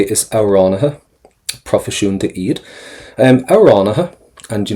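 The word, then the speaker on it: amhránaithe: We have, you can say, is auránatha, profisiúnta iad. Auránatha, and you notice again, we're not pronouncing the TH towards the end there because they're always silent.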